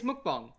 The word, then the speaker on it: mukbang: ] term is it hold up yeah it's mukbang i guess that makes sense if that's like the actual korean pronunciation yeah wait it's korean yes